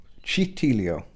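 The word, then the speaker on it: Cittiglio: Is that right, Daniel? Is that the pronunciation? Citiglio. No, that's Citiglio. Citiglio. No, Citiglio. Citiglio. Good.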